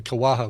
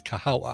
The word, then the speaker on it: Kahawa: big thanks to kahawa i never say it right i know i almost want to say kawaha but it's kahawa kahawa roasting company at